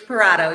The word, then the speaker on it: Parotto: say your last name it's parato you said it right Prado okay great um all